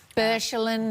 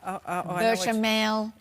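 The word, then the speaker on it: béchamel: Bechamel. No, that's not how you say it. Bechamel.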